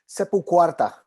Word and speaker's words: SepulQuarta: Is it pronounced SepulQuarta? SepulQuarta.